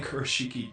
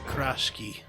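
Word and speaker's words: Kurashiki: A Kershiki died. No, that's not how you pronounce it. It's Kashki 9 years ago.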